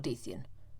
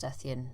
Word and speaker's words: Deathian: or Dethian. No, it's not pronounced Dethian.